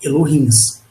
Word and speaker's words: Elohim: Quando vocês pesquisarem tudo sobre Akhenaton, pelas referências que tem na internet, vocês vão pesquisar sobre os Elohims. Pronuncia-se Elohim.